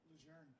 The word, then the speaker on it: Lejeune: Lejeune.